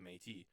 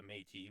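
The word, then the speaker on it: Me'tis: If you listen to San Francisco by the Métis, which is spelled M-E with an apostrophe T-I-S on Spotify, you'll hear all his riffs. They're fucking sick. Sweet. The mate.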